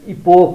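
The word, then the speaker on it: epoch: इपिओसिएच इपोक हुन्छ, इपोक हुन्छ, इपोच हुँदैन, इपोक हुन्छ।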